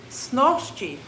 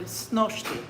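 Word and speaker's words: снощи: Snoshchi. So that's a dialect spelling of the word snoshti. Normally it's spelled S-N-O-Sh-T-I, but this is spelled snoshchi. Snosh, but it's the same word as snoshti last night.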